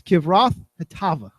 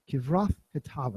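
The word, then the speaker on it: Kibroth-hattaavah: I even have like the dictionary type pronunciation here so I can try this the right way. It's Kivroth Hatava. Kivroth Hatava.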